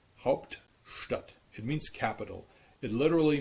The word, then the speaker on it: Hauptstadt: But Stadt is still an integral part of this compound noun, so it is still retaining the st pronunciation.